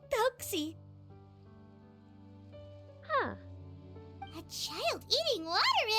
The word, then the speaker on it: Thelxie: Thelxie. Okay, that's how you pronounce the name.